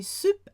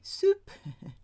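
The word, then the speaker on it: SUP: Even say soup, S-U-P, S-U-P, soup.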